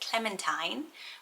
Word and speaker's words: Clementine: so we looked at clementine which is not the teen it's the tines it's quite a name